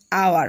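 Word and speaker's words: hour: আর কিছু ওয়ার্ড আছে অন the other hand, অন্যথায় সাম ওয়ার্ডস গিভিন উইথ এইস, হ্যাঁ, where the এইস ইজ not sounded and the first sound is a vowel.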